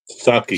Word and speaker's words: sake: Is it Saki or sake? Saki.